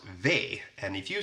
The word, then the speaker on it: V: Then we have the letter V, which in Swedish is pronounced ve, and if you say ve och fasa, it basically means the horror, the horror.